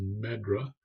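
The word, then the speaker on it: MedDRA: for Regulatory Activities, and that's abbreviated as MEDRA, and you'll hear it pronounced that way.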